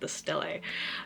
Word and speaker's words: stele: I had to look up how the actor said it because I didn't want to say it wrong, and I'm pretty sure they're saying it the stele.